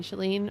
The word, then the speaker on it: Shalene: i go by chilean because it rhymes and it's like a way to get people to pronounce my name properly i'm not really